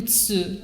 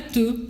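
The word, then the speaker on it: つ: Para você escrever o Tsu, ok? Cuidado que não é Tu, é Tachitsu que se escreve, ok?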